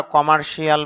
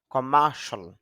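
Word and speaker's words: commercial: যদিও আমরা কমার্শিয়াল বলি আসলে কমার্শিয়াল হবে না। উচ্চারণটা হবে খার সল। কমার্সল অর্থ হল বাণিজ্যিক।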